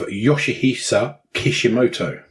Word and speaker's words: Yoshihisa Kishimoto: And we're going to Japan with a video game designer by the name of Yoshihisa Kishimoto. Well pronounced, sir.